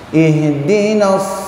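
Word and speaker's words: اهدنا: Ihdinasi, ya, salah itu. Yang betul di tenggorokan, kata bapak-bapak. Ihdinas, di pangkal sini.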